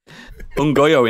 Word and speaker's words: Nyong'o: Ungoyo, isn't it? That's how you say it.